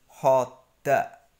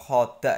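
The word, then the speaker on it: خدّ: Sebagai contoh, di sini bacanya bukan khoda. Kalau khoda itu kan berdirinya satu-satu. Karena tasydid dibacanya khoda. Khoda. Jadi dari kho masuk ke dal sukun dulu. Kemudian baru dikeluarkan dal yang fathah.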